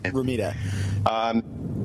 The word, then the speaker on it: Romita: Johnny Romita comic books, if that's the correct pronunciation of his name. Romita.